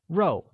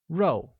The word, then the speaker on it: 肉: Meat translates to row, which is pronounced with a falling tone, like row.